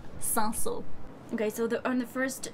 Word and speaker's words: Cinsault: The spelling is a bit crazy, but the pronunciation is 100% Cinsault.